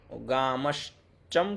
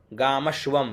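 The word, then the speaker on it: गामश्वम्: गामश् चम क्यों कर दिया यहाँ? गामश्वम ये वह है ना, च नहीं ये वह है, ये थोड़ा ध्यान देना आप लोग। गामश्वम पुरुषानहम है ना, गामश्चम पुरुषानहम तो नहीं है, इसको वह आप कर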